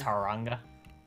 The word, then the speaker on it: Taronga: Turin Gazoo are okay it's Turanga Taronga that's ta rog nga the Koala is a